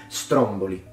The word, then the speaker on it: Stromboli: doesn't usually do this we put the stress at the beginning it happens quite a bit in Italian but the over majority of words in Italian tend to have as stress in the penultimate vowel but not in this case it's stromboli Stromboli this is interesting because